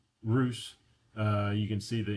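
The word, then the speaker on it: Русь: So Roose is pronounced Roose.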